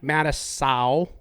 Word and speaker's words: Matusow: heard it straight here from the mouth Mike Mattis Sal so Madison you heard it right here now